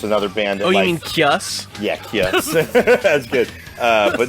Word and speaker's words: Caius: That, you mean Kius?